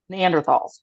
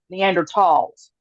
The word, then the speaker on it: Neanderthals: something with you about neanderthals or excuse me neander THS you don't pronounce the th no I'll pronounce the